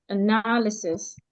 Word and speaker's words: analysis: There's a way you pronounce this word. Analysis. You didn't stress it rightly.